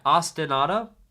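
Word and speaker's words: ostinato: I describe that as ostanado. So it's spelled Austin. There might be two T's there. Yeah. Austinado. And you say it like the city Austin. And then like a car. Austin auto.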